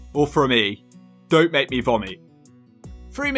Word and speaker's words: Frome: Number 7, Frome.